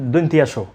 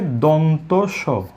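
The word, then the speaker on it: দন্ত্য স: তারপরে এই বর্ণটিকে বলে থাকেন দন্তিয়াস। যেভাবে দন্তিয়ানো বলে, একইভাবে ভুল উচ্চারণ হিসেবে দন্তিয়াস অনেকে বলে থাকেন।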